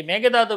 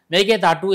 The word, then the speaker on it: மேகேதாட்டு: நட்பு கட்சிதான காங்கிரஸ் இருக்க மேகதாத விஷயத்தில உங்களால என்ன பண்ண முடியுது மேகதாத கட்ட முடியாது சொன்னது மத்திய ஜல்ஜீவன் அமைச்சர் ஜல்ஜீவன் துறை அமைச்சர் அவர்தான் மேகதாது கட்டி மேகதாது அணை கட்ட முடியாது மேகேதாட்டு என்று சொல்ல வேண்டும் ஆக்சுவல உச்சரிப்பு மேகேதாட்டு அணையை கட்ட முடியாது கர்நாடக